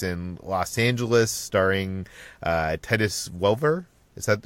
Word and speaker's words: Welliver: This is the detective series that takes place in Los Angeles, starring Titus Welliver. Is that how you pronounce it?